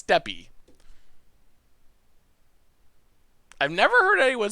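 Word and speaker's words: Steppe: deal in this matchup you pronounced step wrong it's steppy i've never heard anyone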